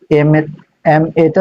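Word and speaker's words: M.A.: তো এখানে একটা নিয়ম আছে, এম এটা তুমি উচ্চারণ করো এম এ।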